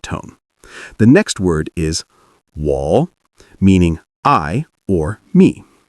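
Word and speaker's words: 我: The next word is wall meaning I or me. Pronounce it like wall. Keep it low and steady. This is a third tone.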